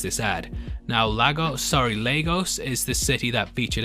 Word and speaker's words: Lagos: Obi who lives in the city that it's pronounced Lagos Obie you got yourself a follow and Kevin